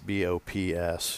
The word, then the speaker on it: Bops: That would be Bops, B-O-P-S, yeah. Bops. My granddaughter couldn't pronounce Papa when she was... little, which was what my dad was, and it was Bops, and it turned into Bops.